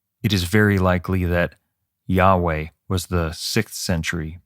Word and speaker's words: Yahweh: period and many diasporas the original pronunciation of the tetragrammaton yhwh has been lost scholars have found somewhat of a consensus with yahweh although the 3rd century